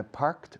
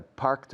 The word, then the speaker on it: parked: Another possibility is I parked my car behind Maria's. Repeat. I parked my car behind Maria's. Repeat. Parked. Parked. Que suene. Quiero oír el sonido de T, por favor.